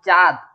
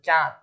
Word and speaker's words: চাঁদ: যেখানে হচ্ছে চন্দ্রবিন্দু থাকবে, যেমন চাঁদ, এই কথাটা কিন্তু চাঁদ কিন্তু মুখে উচ্চারণ হবে না, এটা কিন্তু একটু নাকে উচ্চারণ হবে। চাঁদ মানে যেখানে চন্দ্রবিন্দু থাকবে সেই উচ্চারণটি একটু নাকে উচ্চারণ হবে।